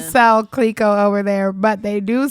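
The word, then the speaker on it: Clicquot: I mean, it's supposed to be French, so I'm sure it sounds a little different, but it's Clico in there somewhere. Right. It probably sounds French as fuck. Yeah. Clico. What? What you say? Clico. That's how you say it in French.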